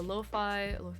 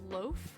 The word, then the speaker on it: lo-fi: It's like, do I pronounce it loaf or lo-fi? Okay. Yeah, I'm genuinely always curious. Lo-fi rhymes with pie.